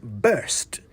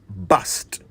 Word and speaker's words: burst: bit of pronunciation now the word I just used was burst b-u-r-s-t burst not bust burst means to suddenly